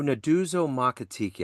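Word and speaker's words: Nduduzo Makhathini: You know, Naduzo Makatiki, I believe that's how you pronounce Yeah, it.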